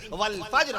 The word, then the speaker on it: فجر: ایسی فجر نہ کہا کیجئے, فجر کی نماز, فجر کا وقت ختم ہو گیا, فجر کا وقت کب لگے گا, فجر نہیں. قرآن مجید اللہ نے باقاعدہ تلفظ بیان فرما دیا, لفظ نازل فرما دیا عرش معلیٰ سے. بسم اللہ الرحمن الرحیم, والفجر, قسم ہے فجر کی.